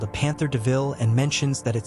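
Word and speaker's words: De Vil: Horace takes Estella a new car called a Panther DeVille and mentions that it sounds like the word devil. Even though it's said as DeVille, Stella really likes the name.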